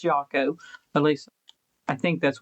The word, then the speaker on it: Yako: And it's Yako. If you guys don't know it, it's like Taco is how he pronounces it. Not Yoko or Yokoono or whatever you may think it is. It's Jaco.